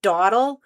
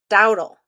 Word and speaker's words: dowel: I think I was saying as doawle, you know, like when you're walking slowly and your parents say don't dole. I thought it was doawle. And then someone said no, it rhymes with cow. It's dowel.